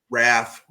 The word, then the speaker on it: Ralph: Raph. The L is non-existent and silent.